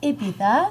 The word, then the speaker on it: Ibiza: And let me tell you, I was fortunate enough to go to Ibiza, pronounced Ibiza, Spain, where, as you know, it is the Mecca of all DJs' lives.